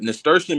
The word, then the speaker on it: nasturtium: Him to come up because nasturtium.